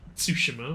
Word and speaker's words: Tsushima: It's pronounced Tsushima, which is pretty cool.